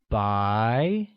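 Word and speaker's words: 白: to say white white translates as by which is pronounced with the mid rising tone good here's something you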